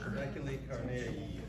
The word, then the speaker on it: Trabeculae carneae: Trabeculae carneae.